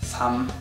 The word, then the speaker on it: 삶: If a syllable ends with 리을, 미음, that 리을 has no sound. Only the 미음 has. Except when the syllable right after starts with a vowel sound. My examples are 삼 and 옮기다. We have both 리을 and 미음 as ending consonants, but the 리을 is silent.